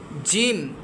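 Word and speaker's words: ج: যেমন সা জিম জিমটা হবে একটু শক্ত।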